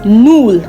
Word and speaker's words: null: Now, zero in German is null.